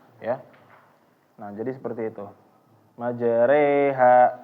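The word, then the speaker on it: مجريها: Majreha, reha, reha. Jadi jangan membacanya dengan tafkhim. Reha. Salah.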